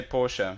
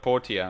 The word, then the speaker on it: Portia: at Portia I keep I keep wanting to say Porsche so do I it's it's pain he's wanting to say Porsche but Portia adding that extra syllable is killing me we took our scores